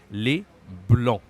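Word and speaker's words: le blanc: right so Le BL be careful don't say Le Blan we don't pronounce the final letters here we just say uh Le BL okay if I wrote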